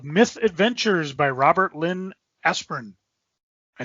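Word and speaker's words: Asprin: hardcover copy of myth adventures by robert lynn aspirin i saying that right is that how you pronounce his name aspirin yes this is the actual book not the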